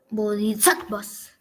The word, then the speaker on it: bodhisattvas: Las siluetas de los dioses griegos sirvieron de modelo para representar a Budas y bodhisattvas. ¿Cómo se dice, profesor? Bodhisattvas. Así como suena.